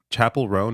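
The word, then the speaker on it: Chappell Roan: to say her name is it Chapel rone is that what that is yeah okay like like a like a church chapel okay so Chapel room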